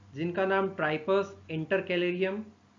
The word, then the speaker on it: Tripus: चार small bones की, जिसको आप प्रोनाउंस कर सकते हैं, फर्स्ट तो ट्राइपस, TRIPUS, ट्राइपस, और इंटर कैलेरियम, और तीसरी है स्कैफियम, SCAPHIUM, और चौथी है क्लॉस्ट्रम, CLAUSTRUM।